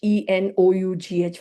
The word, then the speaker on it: enough: And I realized I cannot teach e N O U G H phonetically. They keep saying where is the fur coming from. Chanti, you forgot the F.